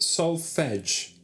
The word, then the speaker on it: solfege: It's pronounced solfege.